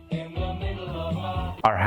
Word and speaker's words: our: وزي ما علمنا يا شباب في الحلقات اللي فاتت من السلسله دي ان احنا لو عايزين نقول بالانجليزي منزلنا our house الاسرع our house بننطق حرف الار بس.